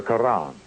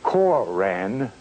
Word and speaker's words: Quran: on or in the Quran. Notice how I pronounce that with the flavor of an Arabic intent. Notice how I pronounce the Koran of the Moorish Science Temple.